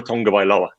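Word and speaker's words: Tagovailoa: and get to a tonga by law uh to pronounce it as i hear you're supposed to this week is a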